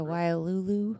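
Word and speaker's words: Wailulu: That is the Wulu. Is that how you say it? W A I L U L U B. Yeah. W Lulu.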